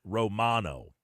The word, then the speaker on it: Romano: But the actual pronunciation is Romano.